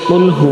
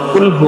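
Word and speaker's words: قُلْ: একদম শেষে আছে যে সূরাতুল ইখলাস যেটাকে অনেকে কুলহু আল্লাহ সূরা নামেও চিনে থাকে তো এই যে সূরাটা আছে এই সূরার একবারে প্রথম আয়াতটি হলো যে কুলহু আল্লাহু আহাদ তো এই যে কুলহু আল্লাহু আহাদ এই আয়াতের সুন্দর অর্থ হলো যে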